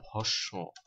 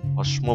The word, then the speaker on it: ভস্ম: ইত্যাদি ঠিক তেমনি ভাবে ভস্ম শব্দটার উচ্চারণ কিন্তু ভস কেউ আবার ভস্ম বলবেন না ভস্ম তেমনি ভাবে ভাস্কর মনস্ক